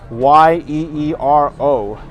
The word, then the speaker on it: gyro: And the normal spelling of it is Gyro, but a lot of people don't know it's actually pronounced more like Euro. So they actually put Yeero, gyro.